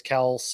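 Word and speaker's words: Kelce: a lot of people have not seen travis kelsey uh put out that his name is actually pronounced travis kels and like pragma holmes was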